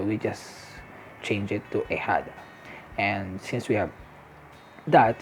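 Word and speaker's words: ahijado: here we go again the h you pronounce it silent it's assigned it h and the j becomes the h so so we just change it to ahada and since we have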